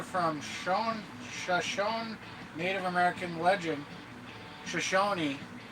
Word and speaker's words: Shoshone: Jarbridge monster refers to a creature from Shoshone Native American legend, Shoshone, that's how you say it, also known as the Twashahobbits.